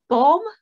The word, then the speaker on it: Baume: it sounds like it's a last name that had an umlaut that dropped off.